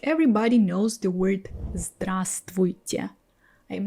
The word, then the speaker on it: здравствуйте: people, I don't pronounce one of them. So it happens in other words too, like чувство.